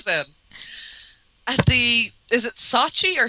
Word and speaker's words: Sochi: Is it Sachi or Saki? Sochi.